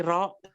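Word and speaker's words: ر: Kalau ini ro, jangan nggak ra lo ya. Ya ono sing takon, Mas. Lo kok nggak ra? Kan fatkara. Enggak, membacanya harusnya ro.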